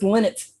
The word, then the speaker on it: Lynott: We kept debating, how do you say Phil Lynott? Leno. I've been told it's Lynott.